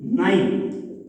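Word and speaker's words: nine: जैसे अपने एक मीनिंग लिखा एन आई एन ई, नाइन, एन आई एन ई,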